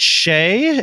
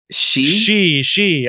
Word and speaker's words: Sidhe: Is it Shay? Is it Shay Quasit? Did I pronounce that right? No, wait. Sidhe? She. Okay. Why is there a D in there? Because Celtic is weird.